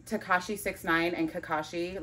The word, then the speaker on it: Kakashi: Kakashi, yeah.